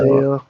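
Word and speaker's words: Pearsall: Is that how you pronounce his last name? Parcel. I don't Is know it Parcel? Purcell.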